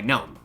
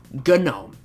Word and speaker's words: GNOME: Next up, there's Gnome, pronounced with saying the actual sound of the G followed by Gnome. Gnome.